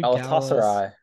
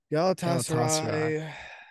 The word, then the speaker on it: Galatasaray: How do you pronounce the team that they lost to? Galatasaray. Galatasaray.